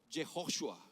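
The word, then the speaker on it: יהושע: En hebreo, Josué se pronuncia Jehoshua y Jesús se pronuncia Yeshua o Yeshua.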